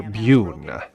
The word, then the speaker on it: Bune: Wolfgang, portrayed by Peter Bune. Rhymes with Tribune.